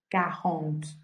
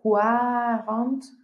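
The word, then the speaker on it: quarante: Este número va a sonar cajón. Recuerden que no es cuarante, sino cajón.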